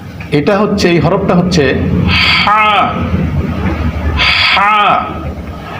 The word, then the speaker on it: ح: আর এটা হচ্ছে, এই হরফটা হচ্ছে হা হা, অর্থাৎ কণ্ঠনালীর মধ্যখান থেকে, এটাকে আরবিতে বলা হয় হালক, হলকের মধ্যখান থেকে হা।